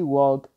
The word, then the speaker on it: walk: They walked around 2 hours. Recuerden que walk, cuando tenemos esta K, esta L se vuelve voiceless, no se escucha, no se pronuncia.